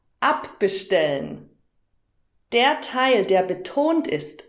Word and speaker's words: abbestellen: Das hat auch etwas mit der Betonung zu tun und damit komme ich zur dritten Kategorie. Hör nochmal. Hinzufügen. Abbestellen. Hörst du die Betonung? Hinzufügen. Abbestellen.